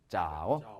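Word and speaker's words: 枣: 자, 대추조 발음은 이렇게 됐는데 Z는 무조건 쌍자음이 되니까 이게 잘못됐어요. 쌍자음이 돼야 돼요. 쌍자음. 자, 해봐. 대추조 짜오.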